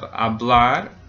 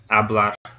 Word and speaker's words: hablar: So first, let's start with the infinitive, hablar. So which syllable gets stressed? Well, it ends in an R, so it doesn't end in a vowel, an N, or an S. So the last syllable is going to be stressed.